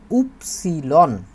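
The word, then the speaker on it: Ypsilon: ওই যে ওয়াই যেটা আছে এটাকে বলছি আমরা উপসিলন এক্স উপসিলন তারপরে সেট এক্স উপসিলন তারপর হচ্ছে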